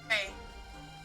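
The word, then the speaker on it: brae: How do you pronounce it? Bray.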